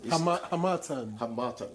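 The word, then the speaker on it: Harmattan: Hamatan. Oh, you got that pronunciation. Hamatan. You took it from me that day. I beg you. Like Hamatan. The stress is on the second syllable. Yes, Hamatan.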